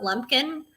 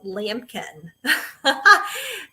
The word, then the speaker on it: Lumpkin: I went to a elementary school that was called Lampkin. It's spelled just like your last name, but it was Lampkin, Lampkin. So that's how I always remember your last name, Lumpkin.